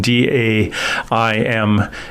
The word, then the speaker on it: Daimler: now daimler is spelled d-a-i-m-l-e-r uh some people pronounce that daimler like the car dealers in germany daimler benz pronounced daimler follow her